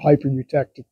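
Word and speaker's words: hypereutectic: It's like a hyper eutectic piston.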